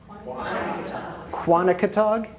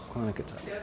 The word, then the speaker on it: Quonochontaug: First, I'd just like to thank, can someone pronounce, I'm going to call it Quani, but could someone pronounce it really well for me? Quonochontaug? Yes. Quonochontaug.